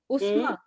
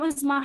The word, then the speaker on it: Uzma: Ma'am मेरा नाम उज़मा है। उस्मा, उज़मा, स्पेलिंग बताओ।